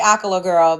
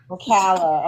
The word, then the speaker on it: Ocala: Hey, see now I don't know cuz I always say a girl, but I know it's pronounced a different way. Oala. Ocala.